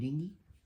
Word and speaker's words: dinghy: creek without a paddle in your dingy uh I'd say dinghy um pronunciation is a bit variable here yeah one's educated the other one's not um that's that's all